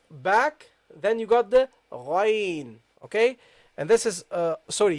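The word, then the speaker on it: غين: But the pronunciation, the first one is from the middle of the throat, as I said, Ghain, and the second one is a bit up. You say Ghain, Ghain, Gha, Gha, Ghain.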